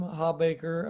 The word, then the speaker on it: Hawbaker: Today I have Hawbaker. I hope I didn't mispronounce that, but I'll let you That's right.